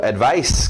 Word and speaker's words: advice: Advice, conselho. To advise. Olha o som de S's.